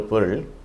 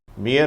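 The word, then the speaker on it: bear: இதை சிலர் தவறாக பியர் என்று உச்சரிக்கிறார்கள். அப்படி உச்சரித்தால் அதனுடைய அர்த்தம் மாறிவிடும். அது ஒரு மதுபானத்தை குறிக்கும். எனவே இதை பேர் என்று உச்சரிக்க வேண்டும்.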